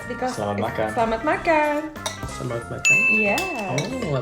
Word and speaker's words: Selamat makan: Selamat makan. Yeah. Oh, I pronounced it right.